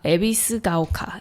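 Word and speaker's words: 戎ヶ丘: 마을 이름이 어려워서 발음하기가 조금 힘들긴 한데 에비스 오카. 에비스가오카.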